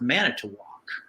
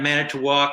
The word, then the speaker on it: Manitowoc: I just started thinking it's going to have to be something where it rhymes with walk, and that's going to have to be it.